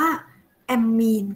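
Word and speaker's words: ammine: บอก จำนวน ค่ะ ได แอมโมเนีย เป็น ลิแกน อ่าน ว่า แอมมี ค่ะ ได แอมมี อ่า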